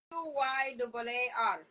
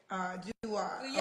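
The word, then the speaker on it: Duyaar: Duyar. D-U-Y-double-A-R. Duyar. Okay. Duyar, no W.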